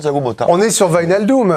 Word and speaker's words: Wijnaldum: On est sur Wijnaldum. J'essaie de le prononcer de la meilleure des façons. M'a-t-on dit du côté néerlandais et pas Wijnaldum à la française.